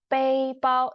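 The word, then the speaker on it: 背包: So we pronounce it first tone.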